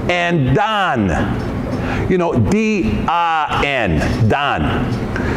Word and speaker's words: Dan: Well, when you're talking about the tribe of Dan, it's pronounced Don.